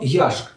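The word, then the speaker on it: וַיַּשְׁק: So you had to remember that what he did in the second line was he yishak that is kissed Rachel not yashk that is gave her water the letters didn't give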